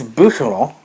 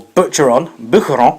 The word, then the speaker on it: Boucheron: This is Boucheron, or Boucheron, I think it's properly pronounced.